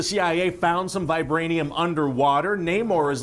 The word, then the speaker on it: Namor: No, I'm gonna pronounce it Namor. Okay, no, maybe there is a wrong way. Like a hungry little kid asking for seconds of his favorite dessert. Namor.